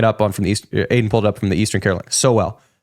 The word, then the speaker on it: Sowell: Sowell. Yeah, so he's just pulling it up from the East. Aiden pulled it up from the Eastern Carolina. Sowell. S-O-well. That's a pronunciation guide.